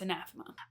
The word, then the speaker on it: Anathema: There are videos on the internet where I mispronounce this. You think that you hear me call it anathema, but I guarantee you you did not hear me say that and I know it's anathema.